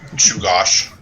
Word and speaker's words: Shugash: tonight i'm gron park that's shugash chugash it's an a but it's pronounced as a you so you know what